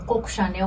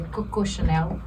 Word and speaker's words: Coco Chanel: na Coco Chanel, que todo mundo fala Coco Chanel, mas é a pronúncia errada, em francês é Coco Chanel.